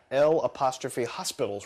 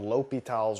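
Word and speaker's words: L'Hôpital: here on the screen, it looks like it's L'Hopital's rule. And so you might be tempted to call it that, but the actual pronunciation is a French guy, and so you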